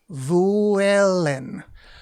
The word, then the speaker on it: vuelen: Cuando las vacas vuelen. Vuen. Probably. I think you pronounce the L because there's only one L.